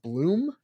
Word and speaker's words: Blum: too long ago that even though your name is Blum it's pronounced Bloom it is Bloom yes it's German Heritage